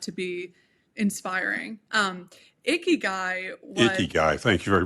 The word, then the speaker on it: Ikigai: Ikigai, thank you for pronouncing it correctly.